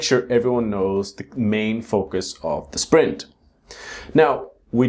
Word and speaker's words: focus: The next word is focus. So the strong syllable is the first syllable. It's not focus or focus or something like that. Focus.